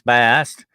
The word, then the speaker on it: Bastet: That's Bast, or Bastet, as some people. There's still a contention to this day beyond between Egyptologists what her true name is, but I like to call it Bastet. It looks more like that the way it's spelled, but that's me being a Southern boy.